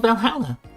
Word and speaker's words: Valhalla: The name sounds silly and a bit hard to pronounce. Good thing it's actually called Valhalla. The funny numbers and letters are just a code.